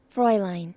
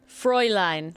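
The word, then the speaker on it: Fräulein: Penguin saying au becomes oi.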